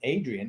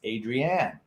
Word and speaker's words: Adrienne: found out yesterday that her name isn't adrian it's adrienne but and that's a